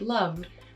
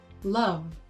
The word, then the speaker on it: love: You can hear in the final part of the word love that Alexandra is using a f sound for love. Most Americans would pronounce that as love.